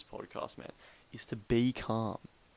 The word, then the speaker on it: Carm: uh if you notice it's c-a-r-m calm is spelled c-a-r-m that is because that